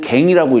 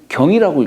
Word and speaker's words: 更: 그래서 다시 한다라고 할 때는 갱이라고 읽고 고친다라고 할 때는 경이라고 읽죠. 우리가. 예.